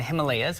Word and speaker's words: Himalaya: Well, I started the company in 2013 with a promise to a group of farmers in North India, in the Himalayas, or Himalaya, same word, different pronunciations, that if they grow tea, I'd start a company in the US to sell it.